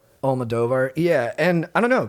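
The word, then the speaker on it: Almodóvar: Almodovar? Almodovar.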